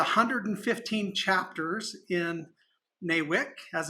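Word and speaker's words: NAWIC: so there's a hundred and fifteen chapters in new wick as it's pronounced that offer education support networking and also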